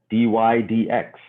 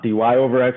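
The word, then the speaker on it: dy/dx: uh pretty cool uh d y d x right and that's that's how you pronounce it it's red d y d x right not d y over x or d y divide by x we call it d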